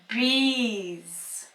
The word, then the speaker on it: bees: So in this example, the final letter S is pronounced as Z. Bees.